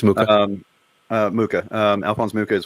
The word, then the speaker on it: Mucha: So you're That talking was about like Alphonse Mucha, or how do you pronounce his name? Mucha? Alphonse Mucha? Yeah, it's Mucha.